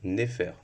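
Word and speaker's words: nefer: nous ramène au hiéroglyphe qui se prononce neéfer qui signifie beau ou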